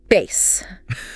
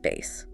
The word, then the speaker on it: bass: Bass. This one has tricky pronunciation. Uh, the fish or the music, right? Spelled the same. B A S. The fish is pronounced bass. Baze. Caught a large bass.